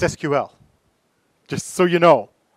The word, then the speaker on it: SQL: it carries forward today SQL is what they call an initialism not an acronym an acronym you pronounce